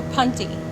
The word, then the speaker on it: punty: So Christy was asking, is it punky or punty?